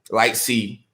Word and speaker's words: Lightsley: He was like, yo, you pronouncing his name last name wrong. There's no L. So Light C.